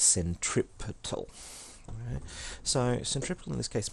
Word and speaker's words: centripetal: centripetal means center seeking please don't pronounce it this century Pete off its centripetal so centripetal in this